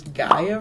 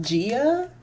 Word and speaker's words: Gaia: to talk about is gaia really quick guy online i think for the longest time i was pronouncing it gia i don't know why there's no e in this there's no e like honestly i think um